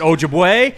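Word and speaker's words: Ojibway: Is it Oji way or is it Oji way? Is it Ojiway? It's Ojiway. Stress the jib. And it's a hard way.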